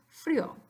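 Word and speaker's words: frío: And then the word frio. If you broke it into 3 syllables, which it isn't really, but you said fadio, say it fast, fadio, tengo fadio. It's not quite right, but it's better than frio.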